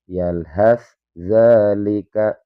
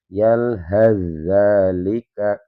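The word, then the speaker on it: يلهث ذلك: Yalhat dzalika. Ya, saya ulangi. Yalhat dzalika itu cara baca yang salah. Jadi huruf tsnya tidak boleh kita baca. Jadi dibacanya langsung ke huruf dznya. Karena ini dua huruf yang berdekatan makhraj dan sifatnya.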